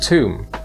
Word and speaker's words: tomb: with the word home tomb is pronounced with an um so it rhymes with the word bloom for the next part